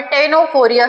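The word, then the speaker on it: Ctenophora: फिर देखते हैं हम सेटफोरिया या फिर टेनोफोरिया सी साइलेंट है यहां पर।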